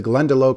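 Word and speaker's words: Glendalough: That is the Glendelo Craft Distillery of Wiklo Ireland.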